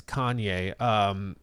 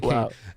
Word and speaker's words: Kane: Kane, who I accidentally mispronounced the other day as Kanye. Kane, actually Kane, super chatted 10.